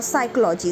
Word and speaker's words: psychology: So when pn comes together or ps comes together, the p is silent. Like the word pneumonia or psychology.